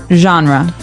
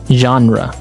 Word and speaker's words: genre: We say genre. Genre. Or genre. This kind of sounds French. Is it French? I think it comes from French. It's a GE word, so genre. It's a soft sound.